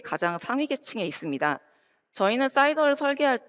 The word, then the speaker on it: SIDR: 먼저 확장 가능한 인텐트 기반의 라우팅인 사이더에 대해서 이야기를 해볼까 합니다. 자, 사이더는 CIDR 사이더와 발음이 똑같죠?